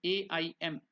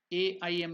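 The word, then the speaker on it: ऐं: So when it is stopped, last time I told you the pronunciation, it should stop in the nasal word Aim there itself.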